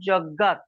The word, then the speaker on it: যজ্ঞাৎ: না, জ উচ্চারণ করা উচিত নয়, ইয়া হবে। ওম তস্মাৎ ওকে। যজ্ঞাৎ যখন আপনি কি বলে সুর করে বলবেন তখন আপনাকে ইয়া বলতে হবে।